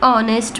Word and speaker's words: honest: An hour, an honest man. The following words begin with consonant letters but are pronounced with vowel sound. They therefore take an before them.